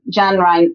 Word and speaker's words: Jun: And gen rhymes with fun.